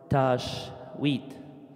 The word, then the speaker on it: Tajweed: Tajweed. In another way, the way that the American pronounce it, Tajweed.